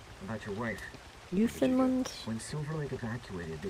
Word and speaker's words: Newfoundland: People always say Newfoundland, and Quasi says it's just like Worcestershire, which is spelled Worcestershire. Pronounced Worcestershire. He says smash it together really fast.